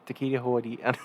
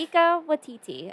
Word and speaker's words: Taika Waititi: try and say Takia his Waititi. name. How do you say it? Taquita Huadi. No, you didn't say it I right. didn't say it right either. But I just want to Taquita- take the edge off. Taika Waititi, I believe, is Yeah.